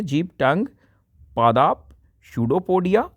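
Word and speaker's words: pseudopodia: सोलॉज the food, first है जीभ, टंग, पादाप, शूडोपोडिया, यहाँ पी साइलेंट रहेगा प्यारे बच्चों, शूडोपोडिया इसको कहते हैं, मुख गुहिका, माउथ कैविटी एंड आंत इंटेस्टाइन।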